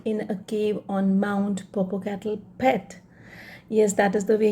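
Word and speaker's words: Popacatapetl: a cave on mount purple cattle pet yes that is the way you pronounce this mount purple cattle cat a pet l in the end is silent the black teeth of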